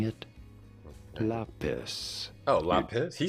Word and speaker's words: lapis: It's lapis. I thought it was la like le. But it's lapis. Lis lazuli. It's like it's very rare that a word like that is like the dumb English pronunciation, right?